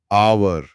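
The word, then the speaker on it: hour: क्योंकि यहां H silent है। शब्द की स्पेलिंग भले ही एच से शुरू हो पर आवाज आ से शुरू होती है। आर आवर हां आ तो एक स्वर ध्वनि है।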